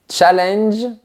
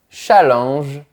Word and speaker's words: challenge: Challenge avec l'accent anglais ou challenge avec l'accent français. Challenge challenge.